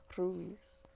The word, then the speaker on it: Ruiz: agreements by don miguel ruiz ruiz if you guys want to roll your r's you got to breathe out when you do it and you kind of like put the tongue to the roof of your mouth behind your teeth and you just kind